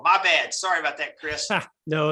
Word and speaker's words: Kris: nashville tennessee right yeah scott and uh it's pronounced chris so it may look like dan but it's